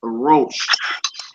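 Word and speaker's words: ראש: Is masculine, and the word is rosh. Rosh. Rosh. Or you can roll yours if you choose to.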